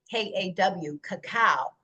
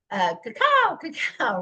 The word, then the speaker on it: cacao: Now, the way that they pronounced this was K-A-K-A-W, cacao. Cacao, right? So the Spaniards renamed this into cacao, spelled C-A-C-A-O, and that's what we're using now today.